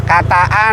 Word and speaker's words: Kataan: Sebut saja Katekan, pengucapannya cukup mirip, kan? Jangan lupa, Kata-an dan Katekan, yang satu menggunakan 'a', yang lainnya 'e'. Yang lebih rendah adalah Kataan, yang sedikit lebih tinggi adalah Katekan.